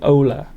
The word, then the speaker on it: hola: Hola. I don't think you pronounce the H though, do you? I think it's more like Ola.